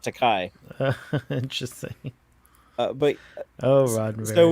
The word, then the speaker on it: George Takei: Is it George Takei or George Takai? I would say Takei. Takei. I think it's Takei. Takei. Okay. That's how you say it. It rhymes with okay.